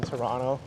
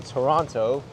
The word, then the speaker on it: Toronto: it's water that's why I don't pronounce the second T in Toronto leaves this as a